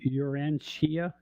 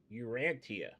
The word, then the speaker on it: Urantia: I got Urantia. Sometimes the TIA at the end of the word is pronounced Shia.